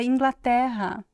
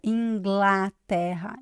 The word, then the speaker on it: Inglaterra: Nós dizemos o A mais aberto, né? Especialmente nessa palavra Inglaterra.